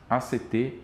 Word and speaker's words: ACT: pronunciado como a palavra act em inglês, não como um acrônimo, porque o nome carrega